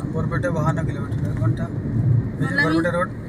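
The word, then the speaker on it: Barpeta: খুলাচ্ছিল না গাড়িতে গা ঘুলায় না আমার তো বরপেটা 52 কিলোমিটার ঘন্টা বরপেটা রোড ববা পেটা বর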